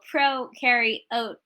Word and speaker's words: prokaryote: above and below so pro carry oat as in you're a pro carrying oatmeal you bacteria eukaryote you